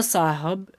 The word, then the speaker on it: साहेब: हैं कि इन बाबा साहब ठीक है बाबा साहब कए साहेब कहिए ठीक है ऐसे रहता है साहब लेकिन यह उच्चारण में ए जोड़ा जा रहा तो यहां पर